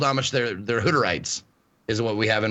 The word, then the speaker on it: Hutterite: They're Hutterites, is what we have in Montana.